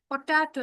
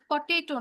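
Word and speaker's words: potato: পটাটো, এটা পটেটো না, পটাটো।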